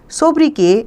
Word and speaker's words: sobriquet: अ सोब्रिक्वेट pronounced as sobriquet is a special name or nickname.